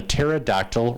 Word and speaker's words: pterodactyl: not hear when a pterodactyl relieves itself well Paul told me because the p is silent so I thought I